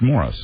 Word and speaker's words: Maurice: It's spelled Maurice. It's pronounced Morris. Oh, I always thought it was Maurice Gibb.